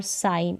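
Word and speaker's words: sign: रखना है फिर देखिए जी साइलेंट है नो और साइन इसमें जी पढ़ा नहीं जा रहा यहां पर देखिए इनमें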